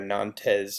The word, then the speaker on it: Nantes: that's how you pronounce that word there are Nantes has actually pronounced Nantes and remember that Edict of Milan